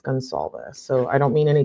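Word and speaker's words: Goncalves: I think I've been calling him Gonalz because I had been hearing that, but it's Gonzalz.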